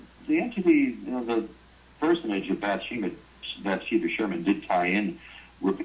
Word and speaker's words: Bathsheba Sherman: by, I know I'm going to get this name wrong, Bathsheba Sherman.